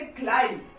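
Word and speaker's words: climb: बी इज not pronounce, B is silent.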